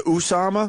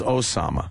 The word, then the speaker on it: Osama: his name correctly Usama did he go with the Usama well Fox is Usama fox loves saying everyone else is Osama I like OS why do they say Usama homicide bombers ubl they